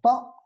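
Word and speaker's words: ط: Après, on a l'alvéole dental, asnani lathawi, le ta. C'est une occlusive sourde et surtout emphatique. Donc, c'est l'emphatique du ta.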